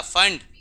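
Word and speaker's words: Pfund: पिचकारी ब्रैकेट उसके बाद क्या था फंड पी साइलेंट है फंड सीरीज उसके बाद आखरी सीरीज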